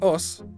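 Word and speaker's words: 押忍: words names osu is osu and ji osu pronounced us there you go os is a catch-all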